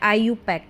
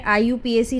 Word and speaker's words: IUPAC: इसको हम प्रोनाउंस करते हैं आईयूपक। ठीक है? आईयूपीएसी नहीं इसको हम आईययूपक प्रोनाउंस करते हैं।